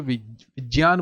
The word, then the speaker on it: विज्ञान: कोई स्पीच सुनोगे तो विज्ञान बोलेंगे क्या बोलेंगे विज्ञान बोलेंगे हम प्रण इसका जो उच्चारण होता है वह ऐसा ही होता है कैसा होता है विज्ञान होता क्लियर है विज्ञान श्रत